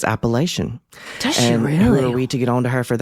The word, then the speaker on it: Appalachian: that I talk to say that it's pronounced Appalachian but Dolly Parton says Appalachian she really who are